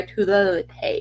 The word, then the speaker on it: Tula Lotay: Variant cover by Tula Lotay.